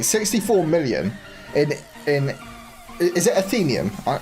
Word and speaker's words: Ethereum: 64 million in is it Athenium? How do you say it? It is Athenium, right? Or something like that. It literally comes down to usage, and Doge will soon be there. Ethereum, yeah.